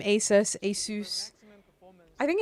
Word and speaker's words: ASUS: to say their name ASUS ASUS I think it's Asus I think it's you guys that say isus the rest of the